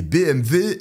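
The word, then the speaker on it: BMW: dans sa voiture une BMV noire de 1995 et BMV est la bonne prononciation parce que je vous vois venir en commentaire et le dit embrasse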